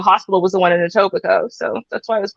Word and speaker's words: Etobicoke: you pronounce it okay Etobicoke there it is you will whale like that's how it's spelled but it's Etobicoke yeah yeah I almost